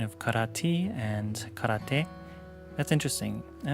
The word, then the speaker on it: karate: I think that's where the pronunciation comes from in English, because technically in standard Japanese it's karate, but I hear that in Okinawa it's karate.